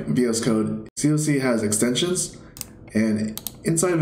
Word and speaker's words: coc: And yes, I still pronounce it as cock in my head, but officially it's called coc.